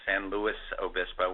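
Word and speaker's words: San Luis Obispo: is Joel daringer in San Louis Obispo we pronounce the S um so um we're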